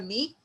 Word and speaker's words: knee: In knee, K is silent, and second alphabet is N. N is consonant. So we put a before knee, a knee.